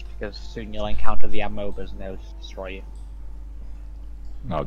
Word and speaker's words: amoeba: Excuse me, did you just call them amoebas? How do you pronounce it? Amoeba. You know, that's the correct way. No, I say amoeba. I'm from Yorkshire, I can do what I want.